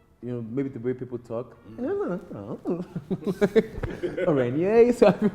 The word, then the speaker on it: Arenye: might not have been Arenye. It would have been a different name. I think so. But it's how Canadians pronounce it. Yeah, because I wanted it to be very like Kanye, like yay.